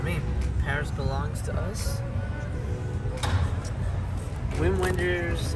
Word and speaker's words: Wim Wenders: Wim Wenders, or Vim Vendors, I guess is how you pronounce it.